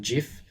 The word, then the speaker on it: GIF: some people say gif some people say gif i mean even the guy i don't know why they say gif because it's graphics interchange format so that sounds like a hard g to me but even the guy who invented it calls it jif so i don't know